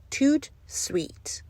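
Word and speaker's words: tout de suite: Tout suite.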